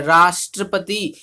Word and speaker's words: राष्ट्रपति: जैसे कि राष्ट्रपति शब्द का उच्चारण करने का रा पर बल पड़ता है। राष्ट्रपति, राष्ट्रपति कभी कर्ता पद पर, कभी कर्म पद पर, कभी क्रिया पद पर बल पड़ता है।